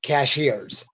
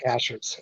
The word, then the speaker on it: Cashiers: that move up there and they call it cashiers but it's called It's pronounced Cashers and uh it's uh whenever I was growing